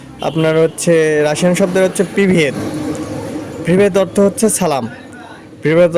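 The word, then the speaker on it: Привет: সালামের অংশ হচ্ছে আপনার হচ্ছে রাশিয়ান শব্দের হচ্ছে প্রিভিয়েত। প্রিভিয়েত অর্থ হচ্ছে সালাম, প্রিভিয়েত অর্থ হচ্ছে সালাম বা হ্যালো। তার প্রিভিয়েত আপনার রাশিয়ান লেখা আছে, তার অর্থ হচ্ছে উচ্চারণ প্রিভিয়েত।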